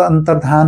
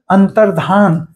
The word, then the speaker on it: अंतर्धान: तुरंत अंतरध्यान हो गए तो अंतर्ध्यान मतलब हम सोचते हैं अंतर और ध्यान जबकि अंतर और ध्यान नहीं है वो वो शब्द है अंतर्धान मतलब विलुप्त हो जाना अंतर्धान हो जाना ध्यान हो जाना नहीं धान हो जाना अंतर्धान हो जाना ठीक